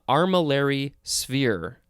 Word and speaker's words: armillary sphere: a few all right next we have uh armillary sphere yeah that's how it's pronounced it is two words it is a